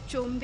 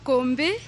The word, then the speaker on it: Kombe: Je suis Chombe, non pas Kombe. Chombe, vous dites? Oui, je suis Chombe. Merci. Ouais, ça s'écrit Kombe, mais ça se lit Chombe.